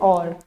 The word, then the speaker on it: hour: I'll meet him in an hour. Their or, even first letter is H, but I have used N. Why? Yes, because this H is a silent letter.